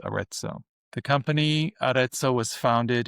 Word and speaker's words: Arezzo: It's from a brand called Aretso, which is spelled A R E Z Z O which is named after a town in Italy called Aretso.